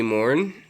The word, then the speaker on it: Morn: You can just call me Morn, pronounced like the second part of the actress Rebecca De Mornay, like the hand that rocks the cradle.